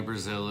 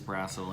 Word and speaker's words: Brassil: r a SS I and normally Brazil is what everybody goes with but it is brassel and it's Irish that is so interesting